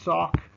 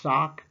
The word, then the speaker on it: Sauk: whites pushed further west these two tribes are the sauk pronounced sock and the fox tribes